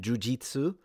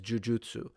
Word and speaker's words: jujutsu: It's a bit like the pronunciations of jujutsu and jiujitsu. In Japan, everyone says jujutsu and ninjutsu.